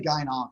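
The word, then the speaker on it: gyn-onc: Just say gynonc. That's what we gynonc. Say. That's it. Gynonc. It's gynecologic oncologist, but that's too many syllables. So we say gynonc.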